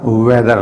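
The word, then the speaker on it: whether: H sound यहाँ पर नहीं है, एच ये बिल्कुल साइलेंट है इसमें, वेदर।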